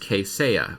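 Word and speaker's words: Kaseya: all the comparisons there's someone said it's actually pronounced Kate saya which okay that's cool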